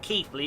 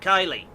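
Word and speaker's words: Keighley: north yorkshire station pronunciation it's not keithley it's they call it kylie kathleen oh here we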